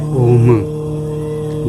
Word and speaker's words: ओम: इन 3 शब्द से मिलके बनता है ओम। जब हम उच्चारण करते हैं ओम, तो हमारे मन से और हमारे अंदर से यही 3 निकलती हैं आवाज़, आ मा ओ।